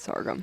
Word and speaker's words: sorghum: There for a second I was sitting there going, I thought I said sorghum wrong. You did say it wrong. It's sorghum.